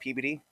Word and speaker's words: Peabody: e a B- o d y but it's pronounced pbd P that's why I like but then also